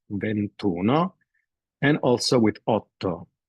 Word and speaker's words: ventuno: so we have Uno it's not venti Uno just ventuno and also with Oto